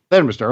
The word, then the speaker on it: Leominster: Is it Leominster? Am I pronouncing that correctly? Okay. Yeah. Leominster.